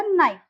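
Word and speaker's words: know: कनाइफ नहीं बोलेंगे, ये हो जाएगा नाइफ। कनी नहीं बोलेंगे, यहाँ हो जाएगा नी। कनो नहीं बोलेंगे, यहाँ हो जाएगा नो। ओके गाइस, आप ये रूल जो है, ये रूल आप मेमोराइज करें।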